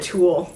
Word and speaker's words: tulle: See, I was calling that tulle. Cool. Yeah, tulle is like net. It was netting, yeah. I just saying it wrong. That's TULLE.